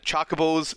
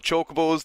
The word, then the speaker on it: chocobo: so feareth we've always called him choco balls now they're called chocobos that upsets me we